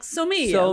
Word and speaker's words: SOMIA: And you're like, SOMIA, like the Italian word.